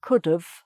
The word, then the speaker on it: could've: Could have, so you say could have, just a V sound at the end, could have, instead of could have, I could have, okay.